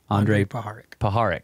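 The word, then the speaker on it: Andrija Puharich: Andre Paharik.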